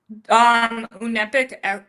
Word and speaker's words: Unepic: Unepic Networks.